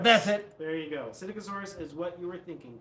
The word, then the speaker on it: Psittacosaurus: It actually entirely jogged my memory that it might be hard to pronounce Yeah. because it starts with a P.